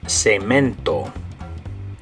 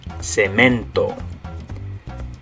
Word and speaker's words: cemento: you're going to say it in Spanish is cemento. Okay, so in English, cement. In Spanish, cemento.